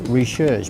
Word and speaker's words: Recherche: Now I think it's pronounced Recherche, but I'm not very good at French.